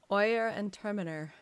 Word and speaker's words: Oyer and Terminer: Is that what we decided to go with? Oyer and Termina? Oyer and Terminer. You've gone with that? Well, that's how I've heard others pronounce it.